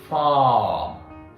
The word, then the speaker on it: farm: So just farm, not firm, verb means different word, right?